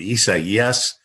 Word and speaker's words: Isaias: I mean, Isaias. I mean, goodness gracious. It took me about 3 days into that just to learn how to say it right.